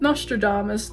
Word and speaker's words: Nostradamus: Nostradamus, not Nostradamus, I was close.